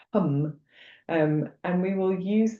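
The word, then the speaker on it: ham: And the mantra is h a m but it's pronounced hum.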